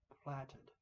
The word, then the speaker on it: platted: The platted, that the pronunciation, as I understand it, is kind of a short A, platted.